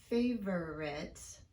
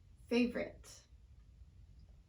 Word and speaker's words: favorite: For example, this word is not pronounced favorite by most American speakers. Instead, we reduce it to favorite.